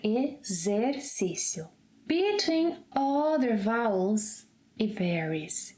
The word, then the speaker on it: exercício: So the letter X sounds like Z whenever it is in this position, after an E and before another vowel, as in exercício, Z, as in zebra, exercício, exemplo, exato.